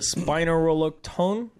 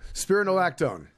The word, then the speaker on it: Spironolactone: Yeah, for spinaroloctone. Spirulotone? Yes. Spirulotone. Pronounce it like a fighter's Are name. you saying her back is fucked up? Or Yeah. Spironolactone.